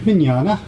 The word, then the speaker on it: Mignogna: are at the wizard world chicago with vic mignana did i pronounce that name right you nailed it i